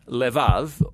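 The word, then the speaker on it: לבב: We're going to look at the fourth key word in this prayer, heart, which in Hebrew is sometimes pronounced levav or more often in a shorter form, lev.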